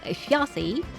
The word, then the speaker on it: Þjazi: Þjazi banner because apparently you're supposed to pronounce her name Þjazi, something along this line.